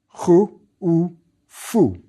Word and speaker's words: Khufu: It's pretty much what you'd expect, a clear transliteration of how we pronounce his name today. Khu-u-fu. What's important to note is